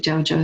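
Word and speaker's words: Zhaozhou: Could be Jaojo. Could be Joshua. Uh, that's the same one. Jaojo and Joosh. Jaojo is his Chinese name. Jooshu is his Japanese pronunciation of his name.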